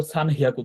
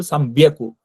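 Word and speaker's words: 三百: কি হবে, যে এইচ এর বদল বি হবে, অর্থাৎ সান হিয়াকু কথাটা সান বিয়াকু হবে।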